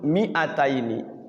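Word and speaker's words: مِائَتَيْنِ: Mi-nya itu tulisannya ada madnya, ada huruf alifnya. Tapi dia bacanya tidak panjang.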